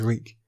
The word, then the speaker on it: Reek: comes the quote reek my name is reek it rhymes with bleak he had to remember